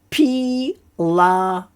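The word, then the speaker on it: פילטוס: So these are like long sounds because you got the I and the Y, so it's a longer sound. P. And then the kamatz is also a long A sound. La. And then because we've got the vav in the middle, then we go tos. Pilatos.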